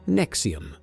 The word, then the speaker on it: NXIVM: In the mid 2000s, both became involved with an organization called NXIVM, pronounced Nexium, run by a man named Keith Ranier.